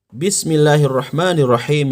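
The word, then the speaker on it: بسم الله الرحمن الرحيم: Quran maka cara baca Bismillahirrohmanirrohim yang benar adalah Bismillahirrohmanirrohim perhatikan Bismillahirrohmanirrohim Bukan dibaca Bismillahirohmanirohim Kim kurang tepat yang tepat adalah Bismillahirrohmanirrohim Saya ulang Bismillahirrohmanirrohim Coba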